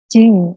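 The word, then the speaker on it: じん: Kalau kewarganegaraan itu tinggal kalian tambahkan kata jing. Tulisannya jin, membacanya jing.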